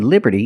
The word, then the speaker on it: liberty: And we see that T in liberty is between vowels, so it's pronounced like a fast D.